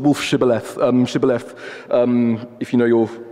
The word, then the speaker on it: Shibboleth: One of these tribes couldn't pronounce sh, couldn't make the sound sh, so they would say Sibboleth, which is why we